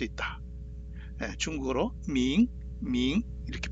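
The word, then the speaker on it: 明: 중국어로는 밍 이렇게 발음하죠.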